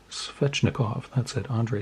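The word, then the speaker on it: Svechnikov: card of svetch necklace i pronounce that fetchnikov that's it andre swechnikov had to think about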